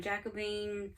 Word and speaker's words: Jacobean: and then we have jacobean florals yes that's the correct way to pronounce it um designed by Elizabeth Spurlock and this was in cross stitch and needlework November 2013.